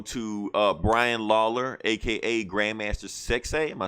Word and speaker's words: Sexay: Rest in peace also to Brian Lawler, aka Grandmaster Sexay. Am I saying it right? Sexy, yeah.